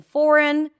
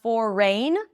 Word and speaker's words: foreign: say about this pattern except that the G is silent, right? Foreign, we don't hear anything. It's not forign. Even the ei that we have there, it's not a, it's just awah.